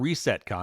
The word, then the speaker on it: RSTCON: So we talked about ResetCon. And by the way, that's spelled RSTCON, which I think will have their second conference or third maybe in Savannah, Georgia.